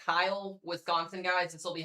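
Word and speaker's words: Kiel: If you're in Sherwood, Stockbridge, Chilton, or I believe it's pronounced Kyle, Wisconsin, guys, this will be headed in that direction.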